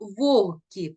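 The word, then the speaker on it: вогкий: на це запитання так слово вогки пишемо з буквою г а вимовляємо як х це виняток із правила а зараз Розгляньте таблицю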